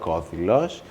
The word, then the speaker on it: Korkodilos: It would be Krokodilos but I shared my thoughts with Katerina Tsoumpa, who is a copywriter and she told me that I shouldn't call it Krokodilos I should say it wrong and call it Korkodilos. In an attempt to give a childlike essence to the name.